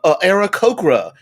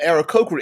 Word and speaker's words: Aarakocra: The Aarakocras, because I like to pronounce the 2 A's significantly. The Aarakocra. Hey, I use the Aarakocra in my game in this way.